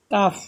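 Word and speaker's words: calf: সি এ এল এফ এখন দেখেন এই যে লেটার এর পরে এল আসছে এ দেখেন তাই না এর পরে এল আসছে তাহলে আমরা কি বলবো কফ না বলে কাফ আ বলবো আ সি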